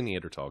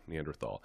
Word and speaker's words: Neanderthal: it's called Neanderthal but because it spelled with a th people say Neanderthal yeah so what is